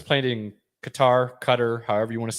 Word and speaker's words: Qatar: yes because in november because it's in qatar cutter um and it's the temperatures summertime are 120 to 125.